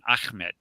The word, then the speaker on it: Ahmed: Ahmed, not Muhammad. Yes. It's Ahmed. Right. Ahmed. A-H. And then M-A-D. Yeah, it's hard to pronounce in English, I know, because the letter Ha is not in English.